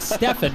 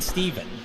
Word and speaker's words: Steven: And of course, though there is a flip side to that, is that the race spot guys always seem to pronounce my name wrong. They pronounce it Stefan rather than Steven.